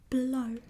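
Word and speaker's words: blou: Then we have blue, which is blow. Blow. So kind of like blow a bubble.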